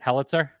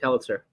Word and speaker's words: Helitzer: do you say your last name is it helitzer yeah perfect helitzer most people don't get that right the first